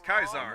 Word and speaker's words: Caesar: which And like I is, said, Caesar's camp. That would be good too. Although technically the proper way to pronounce it is Kaisar.